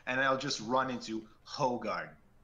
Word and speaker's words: Hoegaarden: typically and just for the record it is spelled with an e no yeah it's Hoegaarden but yeah there's no getting away from it